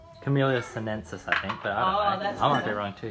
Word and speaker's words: Camellia sinensis: tea anything from that I'm gonna pronounce it wrong kamila censuses family can you please say the word show just close enough camellia sinensis I think they're on